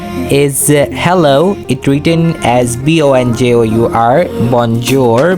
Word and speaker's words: Bonjour: It written as B O N J O U R Bonjour. But it pronunciated very differently like we pronunciate it bonjour. Bonjour. Listen it very carefully.